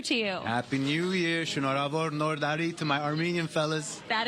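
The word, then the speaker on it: Շնորհավոր Նոր Տարի: Happy New Year, Shonorabor Nordari, to my Armenian fellas.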